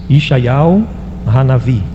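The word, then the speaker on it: ישעיהו הנביא: E a pronúncia ali, a pessoa que fala é uma hebreia. Ela diz Ishaial Hanavi.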